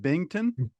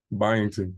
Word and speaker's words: Byington: Which coach how do you say it? Bington? Byington. Byington.